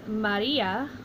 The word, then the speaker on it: Maria: the syllable before so we would pronounce this as Maria or Ma Tei flipping it over we